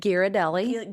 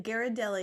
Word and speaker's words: Ghirardelli: choose to partake in dark chocolate is the giardelloo. How do you say it? Girardelli. Ghirardelli.